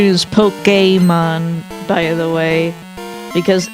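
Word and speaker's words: Pokémon: The the official pronunciation is Pokemon by the way because it's like the accented E in a resume.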